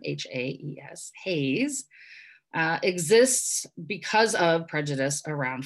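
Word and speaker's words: HAES: Haze, which is how Health at Every Size is pronounced as an acronym, H-A-E-S, Haze, exists because of prejudice around fatness.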